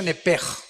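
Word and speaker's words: נֶפֶשׁ: Apúntala como suena nepesh con sh se pronuncia nepej.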